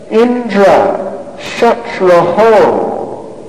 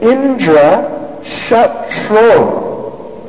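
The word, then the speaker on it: इन्द्रशत्रु: So they were meant to chant Indra Shatraho. That last syllable is sort of doubled.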